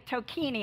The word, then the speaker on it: Tocquigny: It's actually Tocquigny. I always tell people it rhymes with martini, and that helps a little bit.